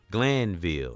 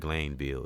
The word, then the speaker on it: Glanville: Her name was Anne Marie Glanville, and I pronounced her name wrong. I said Glanville. It's Glanville.